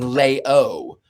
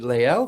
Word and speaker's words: Lael: Um I I do have to sort of overinunciate it because sometimes people think I'm saying Leo and I go no all hail Le.